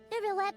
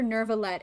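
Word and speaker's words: Neuvillette: I was so hoping that New Paimon would pronounce Neverlet correctly. Every time I hear Nervalet, it makes me want to eat glass.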